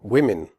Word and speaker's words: women: say on swear you women the Oh in women has a different sound than the Oh in the singular form woman in women the O is pronounced e as in the word win the e in women